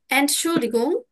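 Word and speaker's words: Entschuldigung: আমার সাথে উচ্চারণ করুন এন্ড শুল্ড ডিগং এন্ড ডিগম ইয়া এন্ড শুল্লিগং আমরা কিন্তু এখানে গিয়ে এটা বলতে পারি এই যে দেখুন এন্ড শুল তারপরে ডি তারপরে গুম এভাবে ভেঙে ভেঙে উচ্চারণ গুলো করব যদি কোন প্রবলেম হয়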